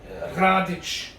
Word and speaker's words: Radic: in croatia so okay my radice is how you pronounce my last name come from a very